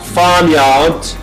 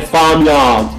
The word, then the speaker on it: farmyard: Because in British accent, you don't pronounce the R. Usually it is dropped, okay? Farmyard. There is the R there, but you don't pronounce it, okay? But Americans, farmyard, if you retroflex R, okay?